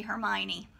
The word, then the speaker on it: Hermione: I had to hear Jim Dale tell me how to say Hermione.